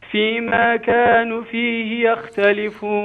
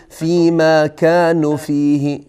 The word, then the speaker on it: يختلفون: کوتاه تلفظ کردید فیختلفون اینجا واو در واقع خوانده میشه یعنی به این صورت نیست که واو خوانده نشه مثلا شما بگید فیلفون این اشتباه فيما كانوا فيه يختلفون